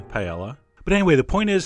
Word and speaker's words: paella: Ramsey might call it, paella. Although, actually, he would say it more like paella. But anyway, the point is some people pronounce the LL.